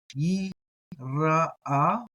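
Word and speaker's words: יִרְאָה: Again, I like pronouncing the aleph, but you have an aleph with a comet te here, which is that a. So I'm going to do that a twice. So yira'a. Some people might do yira, something like that.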